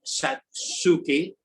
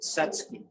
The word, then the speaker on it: Satsuki: Second thing, we're going to be talking about Satsuki azaleas. And it's not Satsuki, it's Satsuki. The U is 98% silent.